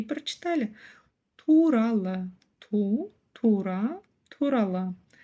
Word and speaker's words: туралы: по слогам и прочитали турала Ту Тура турала здесь мы видим в конце букву Ы в отличие от русской версии буква Ы ского языка читается очень-очень коротко лишь намёк на её существование турала погнали Дальше слово